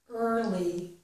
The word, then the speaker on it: early: right this is early early this e a r is not ear it's early I got up early and